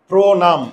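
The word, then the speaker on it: প্রণাম: যেমন দেখো তো, প্রো নাম, এই যে দেখো প্রো প্রো প্রো, মুখের চোয়াল খুলে না, মুখের চোয়াল যদি বুজে থাকে তাহলে উকার হবে, সহজ কথা।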